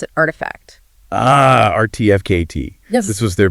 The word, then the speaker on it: RTFKT: You pronounce it Artifact.